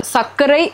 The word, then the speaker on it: sakare: And it is called sakare, as in sakare is sugar in my language in Okay. India, and how it became sucre in French. Yeah. So we have sakare with the accent on the E.